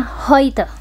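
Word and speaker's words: heute: Nah, kalau ee dalam bahasa Jerman ya, kalau ada huruf E U kayak gini cenderung bacanya itu kayak oi gitu. Deutsch kayak bahasa Jermannya eh hari ini hari ini itu tulisannya kan gini bacanya hoit.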